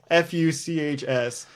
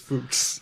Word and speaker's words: Fuchs: was Hans Hans Fuchs yes food and spelled fu CHS and it's definitely pronounced Fuchs Fuchs don't even johan gives no Fuchs Hans